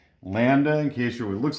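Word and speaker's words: λ: special name we call it that which is pronounced lambda lambda in case you looks like a giraffe landed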